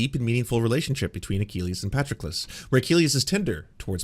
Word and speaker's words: Patroclus: Achilles and it's Patroclus or Patroclus? It's Patroclus, I believe. Let's learn how to pronounce properly.